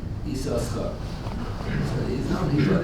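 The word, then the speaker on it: יששכר: The question, what's the correct pronunciation? So his practice was to pronounce it Esau Schar.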